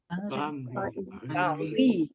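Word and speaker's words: banrigh: Baonri. You've just put B-A-N in front of it, so baonri, and R doesn't unite, so that's why you have baonri.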